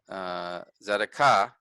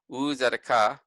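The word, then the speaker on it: צדקה: This is the word for righteousness, zedekah, zedekah. So we put emphasis on the last syllable, zedekah, because the accent is there.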